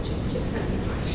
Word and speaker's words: Csikszentmihalyi: There's a psychologist who basically is called Csikszentmihalyi. His name is spelled in a way that you wouldn't understand that that's how it's pronounced, but Csikszentmihalyi.